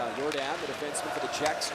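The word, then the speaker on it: Jordán: touched it up as your dad it's his name is spelled like Michael Jordan but it's not jump man it's your dad the defense before the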